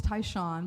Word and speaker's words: Tai Shan: the best way well my name's taon but it's spelled t a i s h an so you have to